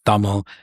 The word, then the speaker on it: Tamil: Um you had a diverse group, but that's where I was like, oh there's no other, you know, Tamil or pronounced thumbl, you know, Sri Lankan people like me.